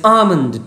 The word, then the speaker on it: almond: fallen fruits of the almond trees you can see also form fallen fruits of the almond trees never pronounce almond l is silent it is almond trees so by all